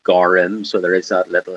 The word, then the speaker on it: gorm: The word for blue, it's spelled Gorm, but it's pronounced Gorim.